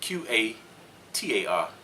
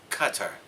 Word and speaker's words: Qatar: to pronounced cutter Carter you gotta have an accent with it though to get it right because it's really hard but it's spelled q-a-t-a-r and most of us